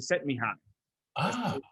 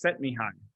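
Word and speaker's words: Csikszentmihalyi: the idea flow um he pronounces it to set me high okay but if you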